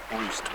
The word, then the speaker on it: Roost: down here there's a roost or a Rost it's written Rost but it sounds like Roost when the locals say it but you can hear